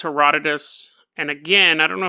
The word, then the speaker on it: Herodotus: are probably right that it's pronounced Herodotus but it's spelled he rode notice so that is but